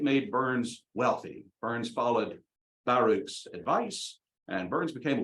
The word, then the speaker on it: Baruch: Bernard Baruch, I pronounced for a long time Bernard Baruch, but he himself emphasized the first syllable in both names.